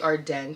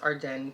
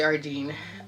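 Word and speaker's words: Ardene: Um, the next place is Ardin or Arden. It's actually Arden, pronounced Arden, but majority of us in Toronto say Ardin.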